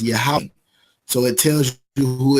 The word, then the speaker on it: Yahweh: is not his name, or you could say Yahweh is how it's pronounced. People say Jehovah or Yahweh or whatever, but in the Hebrew, in the ancient Hebrew, is pronounced Yahweh.